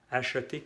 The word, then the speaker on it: acheter: Acheter, que es comprar. C'est acheter. Et con nous et vous será también E.